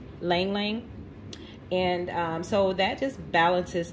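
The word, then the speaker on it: ylang-ylang: going to use this i think it's pronounced like ling lang or lang lang and so that just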